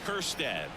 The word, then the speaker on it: Kjerstad: Stepping in, the long ball threat, Heston Kjerstad. That J is silent.